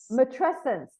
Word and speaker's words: matrescence: thing that strikes me is this incredible term matent I'm not even sure if I'm I'm pronouncing it correctly is that how you pronounce it mesent mesent there we go would you be able to